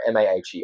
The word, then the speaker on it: Maher: I appreciate you greatly, man. What are your socials again? Hit me up. Maher, Maher.